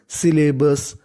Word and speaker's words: सिलेबस: हैं हम लोग बस और एल दो बार लिखा है और इंग्लिश का रूल है अगर कोई भी लेटर दो बार आ जाए तो उसका उच्चारण केवल एक बार करना है एस Y double L ए इसे पढ़ेंगे हम लोग सिले क्या पढ़ेंगे सिले और फिर बी यूएस सिलेबस सिलेबस यानी जितना भी